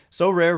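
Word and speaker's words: Sorare: cards and accessing Next Level competitions and rewards so rare recently partnered with MLB All-Stars Juan Soto and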